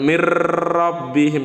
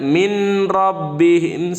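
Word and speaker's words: مِن رَّبِّهِمْ: Asal jangan dibaca min rabbihim, salah. Di sini nunnya melebur dengan huruf ro, tapi tidak didengungkan mir rabbihim, tidak begitu bacanya.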